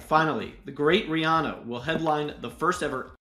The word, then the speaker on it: Rihanna: else you got all right finally the great Rihanna will headline the first ever Apple music Super